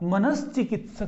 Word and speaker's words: मनश्चिकित्सक: ये कोई भी शब्द नहीं है, मनोचिकित्सक ये अशुद्ध है, ठीक है। शुद्ध जो बनता है, देखिए नियम क्या है, ये हमने ना ये लेखन करना है इसका, ना हमने उच्चारण करना है, ठीक है। इसको क्या बनाएंगे हम, विसर्ग के बाद यदि च हो तो विसर्ग को क्या करेंगे हम, श कर देते हैं, यानी क्या बनेगा, मनश्चिकित्सक बनता है।